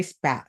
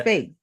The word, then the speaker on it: Spaight: And I got a great guest who actually educated me before we started this, Harry Spat. Spat? Is that how you say it, Spaight. Harry? Spaight. Spate, like Yeah. Spade.